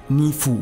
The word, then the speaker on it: NIVU: Mereka ini adalah tim yang terkumpul dalam Netherlands Indisch Football Unie atau disingkat dengan NIVU, NIVU bacanya.